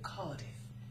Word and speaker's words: Cardiff: will give you a clue I live in Cardiff that's spelled c a r d i f that